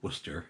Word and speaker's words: Worcestershire: the smell of Worcestershire, or Worcester as the English will pronounce it, because apparently whole syllables can just go away.